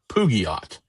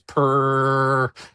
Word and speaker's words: Peugeot: Uh and I can't do the purr as in cat. As in I've heard Alan Mcnish pronounce and it is perjo.